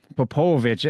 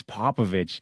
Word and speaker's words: Popovich: Popovich.